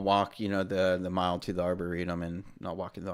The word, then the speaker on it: arboretum: Arboretum? Yeah. Yeah. I've seen it. Arboretum. I'm just... How do you think it was? Tell us. Arboretorium. Arboretorium. There was no atorium in there.